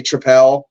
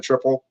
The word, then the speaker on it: tripel: Like I say tripel instead of a triple.